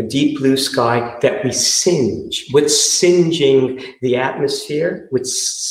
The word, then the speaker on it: singe: Singe, S-I-N-G-E, to sort of burn. Orange, singe orange. The way I pronounce it, or the way it's pronounced, I think, in the United States, singe and orange rhyme.